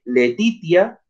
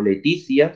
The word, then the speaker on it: laetitia: Y Leibniz dice que laetitia o laetitia, según se pronuncie, es el placer del alma ante la posesión de un bien.